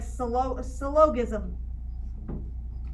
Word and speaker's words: syllogism: It looks like syllogism. It's syllogism. Syllogism. Syllogism is how it's pronounced, okay?